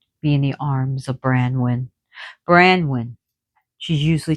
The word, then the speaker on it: Branwen: his child can be in the arms of Branwen. Branwen She's usually called Branwen. There's one word for her. Was it by mistake where they call her Bronwyn? But Bronwyn has a name meaning too. So Branwen, meaning white raven.